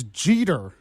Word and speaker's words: Jeter: By the way, I still pronounced the name wrong. It's Jeter.